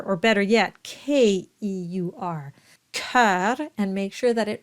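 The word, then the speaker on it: cœur: they read it as cure so what you want to imagine if it helps just cross out the O and read it as c e u r or better yet k-e-u-r Kar and make sure that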